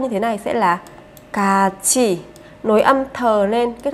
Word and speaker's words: 같이: Nhưng khi phát âm các bạn sẽ phát âm như thế này sẽ là cát chi. Nối âm thờ lên kết hợp với từ này sẽ thành cát chi, cát chi.